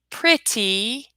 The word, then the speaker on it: pretty: from our last one we use that sound D instead of T we're gonna do the same thing here we don't change the spelling we change the sound so to sound more